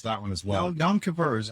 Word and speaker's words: Yom Kippur: No, Yom Kippur is how you pronounce.